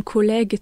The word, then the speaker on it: collègue: Le son je donc collège devient. Collègue quand on rajoute un U entre G et E.